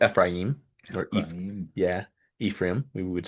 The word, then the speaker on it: Ephraim: yeah, Ephraim, we would say, but Ephraim is the more correct pronunciation, I guess.